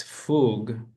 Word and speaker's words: fugue: Escher, Bach, he made a connection between Bach's fugue. How do you Hmm?